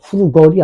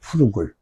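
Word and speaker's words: frugal: 한국 사람은 잘못 발음을 하는 거죠. 후루걸이 아니고 후루글이에요. 후루글.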